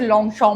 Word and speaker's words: Longchamp: I don't know क्यों उसे लॉन्ग श प्रोनाउंस करते हैं। Because it is basically written as लॉन्ग चमप। बट पता नहीं क्यों भाई बड़े ब्रांड्स का थोड़ा सा प्रोनाउंसिएशन भी डिफरेंट हो जाता है।